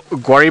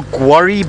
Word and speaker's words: guarri: So there we go, that's our guarri bush.